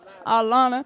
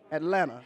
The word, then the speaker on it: Atlanta: Atlanta you know did I say it right Atlanta I was told that's how you say it is that true it's Atlanta Atlanta say with me Atlanta Atlanta you can't do